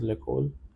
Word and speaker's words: l'école: Pronunciation over here is l'école because of the liaison rule.